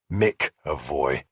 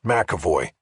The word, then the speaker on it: McEvoy: He'd gotten the name right, but had pronounced it wrong. Mavoy. Yes, Makavoy, I said, correcting him.